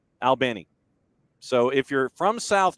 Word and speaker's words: Albany: of the city it's like you're talking to two two dudes one named Al the other named Benny albny so if you're from